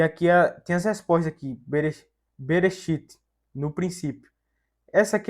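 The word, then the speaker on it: בְּרֵאשִׁית: som mudo então vai ficar como fica a pronúncia dessa palavra berechit esse B aqui vai ser uma preposição vai ficar no princípio e aqui tem as respostas aqui berechit no princípio essa aqui é mesma mesma coisa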